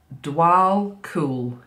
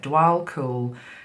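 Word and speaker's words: Djwal Khul: mysticism so it doesn't surprise me um so dual cool is how it says to pronounce it dual cool he's known as the tibetan remember this is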